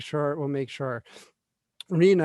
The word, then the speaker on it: RHNA: it will make sure rena it's pronounced rha it's pronounced arena is a target number